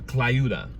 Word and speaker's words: Tlayuda: There's this dish called a clayuda. Clayuda, yeah. And it's, if you want to look it up, it's spelled Tlayuda.